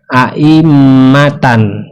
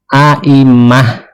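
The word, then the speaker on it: أئمة: Jadi mad iwad itu tidak berlaku pada ta marbutoh ya, seperti ini aimatan. Jadi jangan dibaca aimata ya, tetapi di sini dibacanya aimah ya, dibawa ke hak ya.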